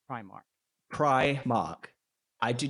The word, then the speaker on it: Primark: from the word go is how do you pronounce Primark Primark I do not say premark premark because you know nor like in the